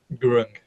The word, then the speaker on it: Gurung: Is it Gurung or Gurung? How do you pronounce it, Alan? Gurung. Fantastic.